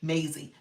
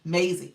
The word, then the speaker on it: Maisie: Rhymes with Daisy, Daisy, Maisie, Maisie.